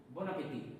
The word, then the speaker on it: bon appétit: Whenever first word is starting with a consonant and another one word is starting with a vowel, we have to pronounce them together. So it will be N and A will be na.